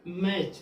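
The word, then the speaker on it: match: जब CH के पहले टी आ गया तो क्या? टी क्या हो गया? साइलेंट, यानी कि मैच।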